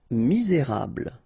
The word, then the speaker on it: misérable: Misérable. Okay, don't insist on the final E here. You get this bl sound at the end. Okay, misé, et because you've got this accent aigu, rable, misérable.